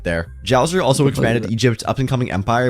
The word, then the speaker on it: Djoser: and build the pyramids, but they also introduced the silent letter. And where would society be without it? King Djoser leaned into the whole god-king situation and built the Step Pyramid of Saqqara.